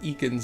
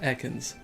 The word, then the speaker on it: Ekans: The announcer just pronounced that as Eakins. Eakins. I guess that's more like snake backward, but that's the first time anyone has ever said Eakins and not Ekans.